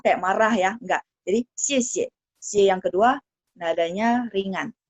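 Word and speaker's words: 谢谢: Nah, padahal kalau misalnya xie xie, secara yang benarnya adalah yang kata kedua tidak ada tanda nada, artinya nada ringan.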